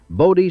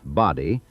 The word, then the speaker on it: Bodie: lettered a sign reading Bodie Stables, and the misspelling stuck. Whether the painter was careless or whether the townspeople deliberately adopted the new spelling to ensure outsiders pronounced it correctly, Bodie, not Body, is a question nobody ever settled.